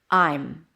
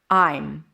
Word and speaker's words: I'm: And the M reduces to m. Basically, you reduce the vowel before. I'm I'm really happy about it.